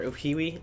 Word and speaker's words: Uhiwi: And also, I know I'm pronouncing Uhi's name wrong. Or Uhiwi, apparently, as it's pronounced.